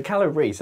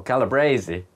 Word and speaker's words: Calabrese: So Calabrese, as in like the full-headed broccoli, or Calabrese, if we want to just go full crazy on the pronunciation today. I've heard people say that, but is that even right?